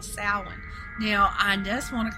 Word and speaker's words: Samhain: celtic pagan festival called salon now i just want to clarify right here that i know that it's spelt s-a-m-h-a-i-n but it's not pronounced samhain okay um just trust